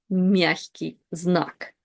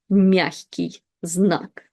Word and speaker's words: мягкий знак: It's the soft sign, and in Russian, the name of this letter is мягкий знак. Мягкий знак.